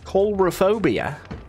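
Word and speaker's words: Coulrophobia: do you say that c-o-u-l bro over phobia coldrophobia coldrophobia that's how you say it what's manicotti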